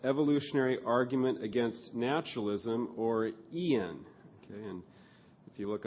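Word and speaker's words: EAAN: of plantiga's famous evolutionary argument against naturalism or ian okay and if you look on the outline you can see what i am pronouncing there the acronym e-a-a-n i'm not actually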